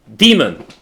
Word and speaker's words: daemon: Normally, what we would do is we would run this as a daemon. Demon. As a demon. That's That's the correct pronunciation.